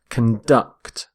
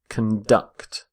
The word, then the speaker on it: conduct: are conducting electricity so note the stress of on the verb as well conduct conduct stress on the second syllable we say conduct when we're using the noun the word conduct is all about behavior as in a code of conduct or criminal conduct but when we use the verb which is what I'm going to look at here stress the second syllable conduct so water ducts heat